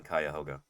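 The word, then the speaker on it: Cuyahoga: but it's most Kyhoga. Um, I'm not sure she's from Ohio. I'm definitely not from Ohio, but Lord and I are. I've never heard it pronounced anything other than Ka Hoga.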